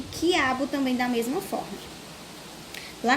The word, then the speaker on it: quiabo: Ao pronunciar as palavras quiabo e hambúrguer, nas sílabas qui e gué, que letra não é pronunciada? A gente acabou de falar. Tem uma letrinha aí que ela não é pronunciada quando falamos hambúrguer. E quiabo. Não dá para ouvir o som de uma letrinha aí.